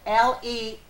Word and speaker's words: Lamons: And that's Lamons, Lemons. Spelled like lemons. Reads like lemons, but it's so much more.